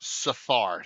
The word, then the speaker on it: Sathar: Okay, so the T is silent in front. Sathar.